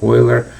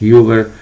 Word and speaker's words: Euler: to pronounce worth but please pronounce his name oiler and not Euler it just terrible so